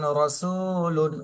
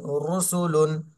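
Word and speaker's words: رَسُولٌ: ধারণা দিয়ে দেবো তাহলে র এর উপরে যদি জবর অথবা পেশ থাকে র মোটা হবে যেমন রসুলুন রসুলুন রচে যদি জের থাকে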